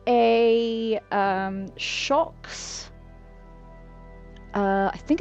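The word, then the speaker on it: Shokz: Yeah, it's a shocks. Um, I will spell it into chat for you.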